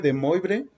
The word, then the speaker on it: de Moivre: Se escribe de Moivre, pero se pronuncia de Moivre, ¿de acuerdo?